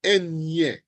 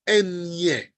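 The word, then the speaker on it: eñe: Likewise for the enye. Notice it's enye. The N with the tilde, like in Espanol, in niño, niña. All right, you have to pronounce that. You can't pronounce the enye just like an N without the tilde, because that would now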